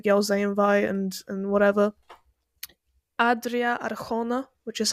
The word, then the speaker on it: Adria Arjona: Adria Arjona, which is how you pronounce her name, I've heard, She the one in plays.